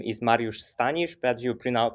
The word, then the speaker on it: Mariusz Stanisz: hi everyone yeah yeah actually my name is Mario Stanish but you PR pronounce it very well so I gave my